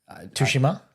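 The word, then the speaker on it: Tsushima: of um games but uh ghosts of toshishima tushima shima yeah yeah that's how you pronounce it um the the director chad stahaski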